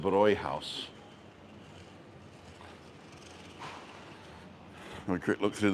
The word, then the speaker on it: Bräuhaus: It would be the Brauhaus if there wasn't any dots over the A. But because there's dots over the A, you pronounce it Bräuhaus.